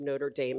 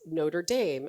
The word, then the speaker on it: Notre Dame: Um, I wrote him back and I said that indeed I was using the commonly anglicized pronunciation of the school. It wasn't Notredam, it was Notre Dame.